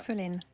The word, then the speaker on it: Solemne: D'ailleurs, Solène, je me permets de dire aux auditeurs d'RTL, comment dois-je prononcer Solemne? C'est comme dans automne, on ne prononce pas le M. Très donc bien. Solène.